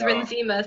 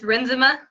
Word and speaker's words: Renzema: Chris Renzema, just at Chris Renzema, Renzema. So I've been pronouncing it wrong this whole time. I thought it was Renzema, so it's Renzema.